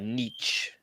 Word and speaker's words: Nietzsche: my niece that's something else okay i'm about nietzsche okay that's how you say his name anyway